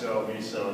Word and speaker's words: MISO: this what are their bits uh miso it's miso that's different people want to pronounce it I guess it is a regional